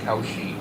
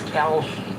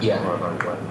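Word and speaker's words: Kalshi: Don't feel bad about um thinking that Khi was koshi. I thought so, too. That's what I thought. Am I the only one? It's Kawhi. K A L S H I pronounce it KI.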